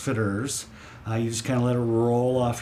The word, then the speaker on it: Fitterer's: definitely unique it's a rather onion name it's pronounced fitters I used kind of let it roll off